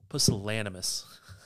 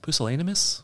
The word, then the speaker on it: pusillanimous: Pusillanimous. That's not how it's pronounced. Pusillanimous? Was that what we checked this earlier? That's better. Second attempt was better.